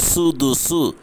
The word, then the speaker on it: السدس: ஃபலி உம்மிஹி ஸுலுசு ஃபஇன் கானலஹு இஹ்வதுன் ஃபலி உம்மிஹி ஸுதுசு. இங்கே தான் சுதுசுன்னு சொல்லணும், சீன் வந்திருக்கு.